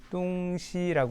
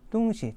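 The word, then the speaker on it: 东西: 합니다 그래서 지금도 중국 중국에서는음 동서를 나타낼 때 뚱시 길게 발음하면 동서가 되고 뚱시 짧게 바람을 하면 물건이라는 의미로 쓰이고 있습니다 동서가 물건이 되는 이유는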